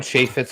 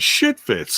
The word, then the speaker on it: Chaifetz: Chaffetz Arena is, it's a renowned arena in the St. Louis arena. And what? How do you pronounce that? Chaffetz. Oh, I thought you said shit fits.